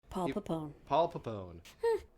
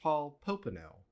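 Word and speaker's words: Paul Popenoe: was eugenicist like pretty openly eugenesis and so paulone Paul pone editor note his name is pronounced Paul poeno he's also eugenicist so it doesn't [ __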